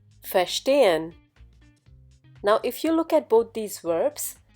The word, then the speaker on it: verstehen: In the case of untrennbare Verben, the stress is not on the prefix, verstehen.